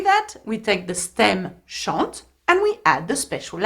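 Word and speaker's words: chantent: Now, though there is ENT, you do not pronounce the N and the T. You pronounce it as E, just like je, tu, il, elle.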